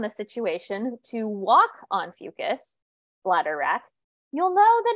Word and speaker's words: Fucus: situation, to walk on Fucus, bladder wrack, you'll know that it's very, very, very slippery due to mucus. I always like to say Fucus rhymes with mucus.